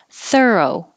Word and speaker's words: thorough: instead of in differentiate thorough that's it it looks so crazy with all those o's and ghs if we just spelled it like thir oh that would that's all we need thorough dialect you don't